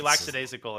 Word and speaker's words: lackadaisical: most people say lackadaisical which is actually wrong there's no s there do people say that I would just slap them I regularly slap them but they're pretty lackadaisical in their in their